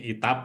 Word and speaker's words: ETAP: Kalau saya nyebutnya ETAP, mungkin ada yang nyebutnya ITAP gitu ya.